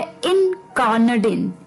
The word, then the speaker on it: incarnadine: तो अभी जो 10वां वर्ड है शाम का वो है इनकार्नाडिन, इनकार्नाडिन। जी हाँ, बिल्कुल प्रोनाउंसिएशन थोड़ी सी अटपटी है इसकी वर्ड की।